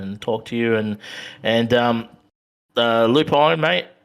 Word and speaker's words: Lupine: And Lupine, mate, is it Lupine or Lupine? Correct me, buddy. What how do you say? I don't even Lupin. Lupin. Yeah, Lupin.